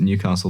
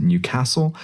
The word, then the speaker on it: Newcastle: They don't pronounce it Newcastle there, they pronounce it Newcastle, but I feel like